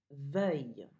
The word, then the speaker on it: veuille: Veuille. What word does that rhyme with? Veuille, like feuille. You learned how to say feuille by now. So veuille, feuille.